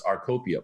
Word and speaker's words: Rcopia: drug medication or x-ray you know cornucopia so it's our copia please we shorten it